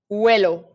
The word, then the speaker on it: huelo: So because I can't start a word with U, I put a silent letter there to place hold. And what's the silent letter in Spanish? H. Huelo.